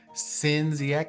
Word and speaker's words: Sin Ziek: Hi, my name is Sin Ziek. That is how you pronounce the full government name, but Sin for short will do.